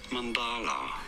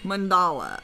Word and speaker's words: mandala: already this word designating mandala mandala okay emphasis on the second syllable Nancy now you know